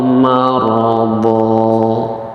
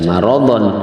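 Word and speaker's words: مَرَضًا: Jadi cara membacanya fazadahumullahu marada, ya. Jangan dibaca maradon, ya, tapi kalau diwakafkan itu harus dipanjangkan dua harokat.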